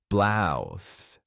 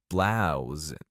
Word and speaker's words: blouse: In American English, the standard pronunciation is with an S sound, like blouse, blouse. However, in British English, it's often pronounced with a Z sound, like blouse.